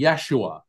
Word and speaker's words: Yeshua: and it was and his name in in Aramaic or or the closest we could pronounce would be Yeshua he was um Yeshua